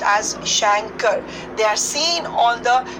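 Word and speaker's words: chancre: lesions now these prime religions are Shanker's it's pronounced as Shankar they are seen on the external genitalia of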